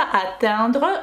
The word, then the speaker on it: atteindre: Тут глагол не attendre, не entendre, а atteindre. Прости, господи, знаю, что этот носовой звук у меня получается не очень хорошо, но вы видите, как это пишется. Atteindre – это достигать, дотягиваться.